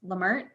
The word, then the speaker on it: Lamert: you very much miss i keep saying your last name wrong it's lamert yeah okay i'm sorry